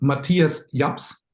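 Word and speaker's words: Matthias Jabs: Well, as the German on the team, first of all, it's Matthias Japs, if you want to pronounce it really German.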